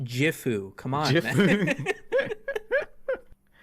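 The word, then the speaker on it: Gifu: Um let's go to GEU. That sounds nice. It's pronounced jifu.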